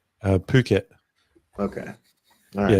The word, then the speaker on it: Phuket: Phuket. Okay. All Yeah, right. that's how they say it. Phuket, not Yeah, fuck it.